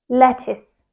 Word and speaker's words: lettuce: the correct pronunciation is lettuce lettuce the stress is on the first syllable the t is quite